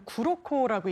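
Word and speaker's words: 黒子: 흑자라는게 일본어 표현으로 구로코라고 읽는데요.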